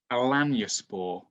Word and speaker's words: Alanyaspor: He then goes to the club he's at now, which is called Alanyaspor. Oh, perfect pronunciation there.